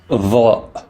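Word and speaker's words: ظ: Next is va, va, which is pronounced like the TH in the this and that, but coming from deep in the throat as well. So it's va, va, va. It's exactly like saying the, this, that, but not saying the,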